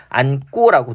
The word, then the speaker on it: 안고: 그랬더니만 요게 뭡니까? 안고라고 된소리로 발음되고 있고요.